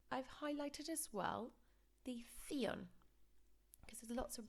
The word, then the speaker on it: televisión: And we need to pronounce every single letter, so theon.